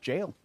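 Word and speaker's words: gaol: Fun fact, G-A-O-L is pronounced jail.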